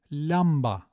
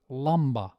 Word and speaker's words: lamba: But with long words, even with back vowels, we generally use the light L, as in lamba, as opposed to lamba.